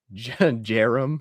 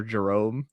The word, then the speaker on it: Jarom: So Nephi is good, but I think my favorite one is Mosiah, or maybe, quite possibly Jerome or Jerome, but it's spelled Jarom.